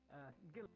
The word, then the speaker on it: Gil: pronounced Gil, or was it Gail? Stay in company of a teacher. Gil.